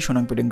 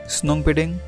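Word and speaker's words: Shnongpdeng: এই গ্রামের নামের উচ্চারণে বেশ খানিকটা গড়বড় আছে। কেউ বলেন স্নোংপেডেং, কেউ বলেন সোনাংপেডেং, কেউ বলেন সোনাংপেডেং, কোনোটি হয়তো ভুল নয়।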